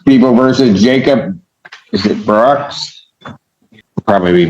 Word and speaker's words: Bro: It's pronounced Bro? Bro, like B-R-O.